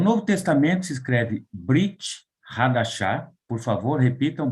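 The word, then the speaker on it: ברית חדשה: O Novo Testamento se escreve Brit Hadashah. Por favor, repitam, Brit Hadashah.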